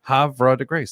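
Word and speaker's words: Havre de Grace: Hav to grace. There you go. Havra de Grace.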